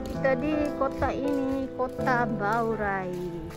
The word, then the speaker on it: 宝来: ほら、ほら雨降った。トルマニさんもパキタンダタンダメラギネ。イニジュガ。何名前ついてるのかなこの色。ほらなんか書いてある。怖かったね、あの犬。hari ini hari terakhir kita di kota ini, kota Baurai. horai. Kota horai, baurai. Tulisannya baurai, bacanya horai.